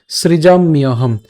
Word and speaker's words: সৃজাম্যহম: তাহলে তদাত্মানং সৃজাম্যহম, সৃজাম্যহম। এই যে সৃজাম, ম হসন্ত। ঠিক আছে, এবং এই জফলা থাকার কারণে উচ্চারণ হবে হচ্ছে ইয়, তাহলে ইয় হম, সৃজাম ইয়হম।